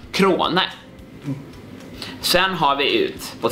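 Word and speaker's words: Crone: Efter Viktors efternamn är danskt och uttalas Krone.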